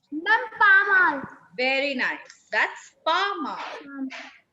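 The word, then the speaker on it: pas mal: I told you, beta, consonants in the end will not be pronounced. Ma'am, pa mal.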